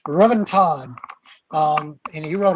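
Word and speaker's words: Ruthven: apparently the welsh pronounces they don't pronounce the th robin todd um and he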